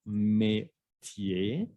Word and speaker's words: métier: Métier, no olvidan que la R al final no se pronuncia, métier.